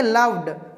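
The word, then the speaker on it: loved: व आ रहा है, अंत में अगर व उच्चारण होता है तो अगर इसमें डी लगा दिए, लव में डी लगा दिए, तो अब इसको क्या पढ़ेंगे? लव्ड।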